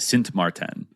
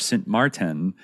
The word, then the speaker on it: Sint Maarten: Sint Maarten.